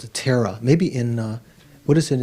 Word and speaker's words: Thera: That's just the Pali way of pronouncing it, Thera.